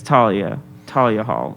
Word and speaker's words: Thalia Hall: It's Thalia? H Okay. is silent. I got corrected on that. Oh, you did? Okay. It's Thalia Hall.